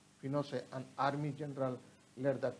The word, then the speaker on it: Pinochet: General Augusto Pinochet pronounced Pinochet an army general led the coup.